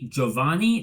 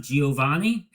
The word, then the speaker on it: Giovanni: You may have heard I say Giovanni, not Giovanni. That's because from what I've heard from my aunt who spent a great deal of time in Italy, that is the proper Italian pronunciation.